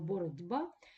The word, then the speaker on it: боротьба: питань перед м'яких знаком а слово боротьба відбувається асимілятивний процес б впливає на ть попередній глухий і робить його дзвінким ми вимовляємо боротььба і в зв'язку із